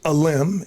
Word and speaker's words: Aalim: Yes, obviously you mentioned LinkedIn, Aalim. Think about a tree branch, Aalim, if you want to just pronounce it correctly.